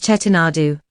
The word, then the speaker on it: Chettinad: think about food but chettinad has a great history here is the story of chetanad chettinad is commonly pronounced as chetinadu the name chettinad literally